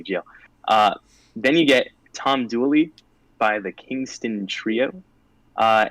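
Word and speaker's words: Tom Dula: is dually or so it's pronounced tom dooley in north carolina but the name is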